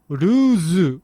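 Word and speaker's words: ルーズ: As for the word here, this is a super nerdy little linguistic thing, but the Japanese pronunciation is ruzu with a zu, right?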